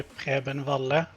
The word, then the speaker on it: Preben Valle: In Norwegian, it would be Preben Valle, but I don't mind the way you're doing it.